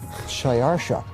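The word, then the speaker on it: Xšayāršā: his name was xerxes his persian name in old persian which is his original native language is shayarsha that was hard for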